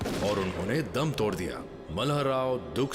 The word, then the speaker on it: मल्हार राव: 1766 में मल्हारराव रघोबा महदजी शिंदे के साथ जंग पे रघोबा नहीं, राघोबा। मल्हार राव नहीं, मल्हार राव।